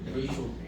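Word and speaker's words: ratio: 커먼 레디션. 레시오. 레이쇼. 그 니네 이거 영어 발음 정확하게 해야 된다니까. 티처스 안 보냐고. 알겠지? 커먼 레이쇼.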